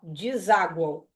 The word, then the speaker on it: deságuam: no egs tá ó deságuam ó tá no finalzinho e guu esse U tá pronunciado então é u a